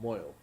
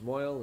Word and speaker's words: mohel: A mohel. A moil. Well, somebody can pronounce it. Yeah, in Hebrew, in Yiddish it's moil, and in Hebrew it's mohel.